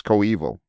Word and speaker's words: Coeval: got rectify series speakers koval series speakers is that how you say it Oh evil go evil of course but it's not it's not Berkey but it's Co evil it's a dictionary looking